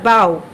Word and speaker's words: bough: তারপরটা বলছি হচ্ছে আবার বাও, বাও রস্য অথবা ও বলতে পারি আমরা, ব আকার বা ও এরকমও বলতে পারি, হ্যাঁ।